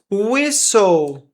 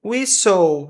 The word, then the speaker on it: whistle: Whistle. Whistle. Não tem esse T aqui.